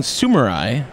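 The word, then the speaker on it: Sumuri: Yeah, it's Sumori. It's a Tagalog word. So I kept saying Sumori.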